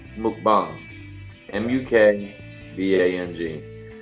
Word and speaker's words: mukbang: window and look up mukbang ei ng apparently it's it originated in Asia Korea you say correct yeah initially pronounced mcbomb and you can be